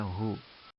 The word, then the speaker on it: who: bahasa Inggrisnya WHO ya tulisannya Who enggak bacanya Ho modern untuk Zalika dan